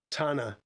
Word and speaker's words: Tana: And let's let me get the pronunciation of that lake. Tana. Just Tana.